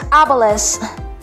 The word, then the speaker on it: obelus: Next word is obelus. Obelus. Ang stress po ay nasa first syllable.